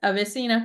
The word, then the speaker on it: AveSeena: Ibrew is the founder of a beautiful skincare brand called Avesena. Um, is is that am I pronouncing it correct? Oh, yeah, that is it. Avesina.